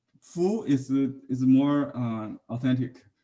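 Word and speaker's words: 芾: The letter Fu is more authentic. Fei is maybe a misread, I think. So for more educated people, they pronounce it as a Fu, but for common people,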